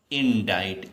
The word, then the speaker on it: indict: लेकिन जब इसको पढ़ते हैं तो क्या पढ़ते हैं, इंडाइट, इस तरह लिखेंगे, इन डाइट।